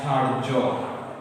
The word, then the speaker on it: ধৈর্য: যেমন ধার্য, যেমন কি আছে? ধার্য। আমরা অনেকে ধার্য শব্দটি দেখি ধার জফলা দিয়ে না। যখন রেফ কোনো বর্ণের উপরে থাকবে সেই বর্ণটির দ্বিত্ব দুইবার উচ্চারণ হবে না।